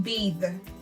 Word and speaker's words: bathe: Okay, so for example, th in bathe. Okay, so put your hand to your throat when you pronounce this word, bathe, and you can feel the vibration when sounding the bathe.